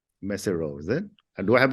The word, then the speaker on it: Mesirow: And I'm imagining, I'm assuming the comes from your family name, Mesirow, is it? Do I have the pronunciation correct, or is it? Yes, Mesirow is my family name, and I had a